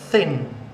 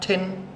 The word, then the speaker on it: thin: So the first kind of body shape that you get is thin. Now we must remember important TH sound. Thin, not tin. You have to keep TH together. Thin, thin.